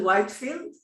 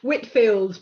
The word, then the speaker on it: Whitfield: Today we have Whitefield. Am I pronouncing it right? Whitfield, but everyone does that, so it's fine.